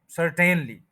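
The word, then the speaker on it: certainly: क्या कहते हैं सर सर्टेनली तो वो भी गलत हो गया क्योंकि टी और एन के बीच में जो अ ए और आ है उसको नहीं बोलेंगे तो ये बनेगा सर्टेनली सनली सर्टेनली इसका जो प्रोनंसिएशन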